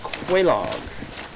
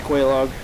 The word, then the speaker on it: Quelaag: I say Quelaag. Sounds the most correct, if that's the proper usage of these words.